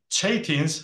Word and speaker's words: Chaitin: here is about uh chatin what you pronounce chatin but let me please let me pronounce it as shtin which I guess is closer to the original pronunciation and shens to uh